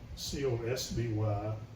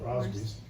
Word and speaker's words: Cosby: It's Cosbie, and of course Crosby gets thrown in there, the Crosbys, which still happens today, by the way. Yep. In school we were often mispronounced as Crosby, or asked if we were related to Bill.